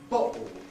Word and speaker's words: bottle: Anyhow, in words like bottle, bottle, that means bottle, bottle, there we've got a glottal stop, bottle, and the vocalized L, bottle.